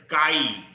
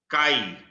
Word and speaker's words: chi: So here the proportionality constant introduced, that is pronounced as chi. This one is not X. This is pronounced as chi.